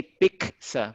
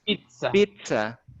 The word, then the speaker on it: pizza: because some people say pza but it's not pza it is pizza pizza with t because that is from Italy it is Italian so